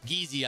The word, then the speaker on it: Geezy: Geezy, I mean. That's a hard G.